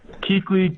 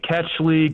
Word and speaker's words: Kuechly: Kuechly, Ketchley, Kuechly, anything that starts with a K and ends with like an LY and then maybe a hard K there at the end is how it gets pronounced.